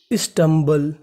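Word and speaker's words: stumble: लोग पढ़ते हैं बल आपको इंग्लिश में कहीं पर बी एल इ लिखा मिले तो उसका उच्चारण करना है बल और बीच में एम है तो मीनिंग बनी हमारी स्टमबल स्टमबल स्टमबल का मतलब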